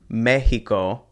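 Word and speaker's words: México: There's also the Mexican X that sounds like the English H sound. So that's why you'll hear this pronounced Mexico and Texas.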